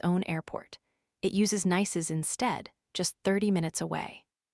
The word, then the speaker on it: Nice: we reached France, specifically the city of Nice, pronounced like the English word nice.